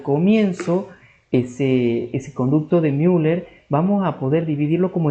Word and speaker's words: Müller: Porque el conducto de Müller, para que puedan hacer una regla técnica, Müller, o sea, como una especie de U, sí, eh se pronuncia como I, digamos, en alemán, pero eh de de